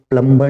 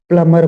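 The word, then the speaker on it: plumber: प्लंबर बोलते हैं लेकिन ये प्लंबर नहीं बोलता ये प्लमर बोलता है ये प्लमर बोलेगा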